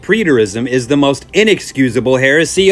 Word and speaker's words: preterism: By the way, Ryan, it's pronounced as preterism.